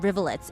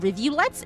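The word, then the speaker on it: rivulet: I always pronounce it rivlet. Is it rivulletes or is he just being British?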